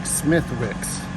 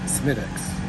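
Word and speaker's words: Smithwick's: definitely that counts honey it looks like smithwicks but it's pronounced smittix okay we learned that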